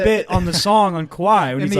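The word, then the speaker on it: Kauai: I was like, it doesn't rhyme with Maui, right? It's not Cowie. No, it's Kawhi.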